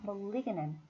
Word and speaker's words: malignant: 리의 강세가 있으니까 malignant, malignant tumor, malignant tumor, 악성 종양, 양성 종양, benign tumor, benign tumor, 악성 종양은 malignant tumor, 네, malignant tumor.